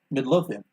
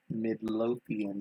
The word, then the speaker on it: Midlothian: Midlothian. Say it slower. Midlothian.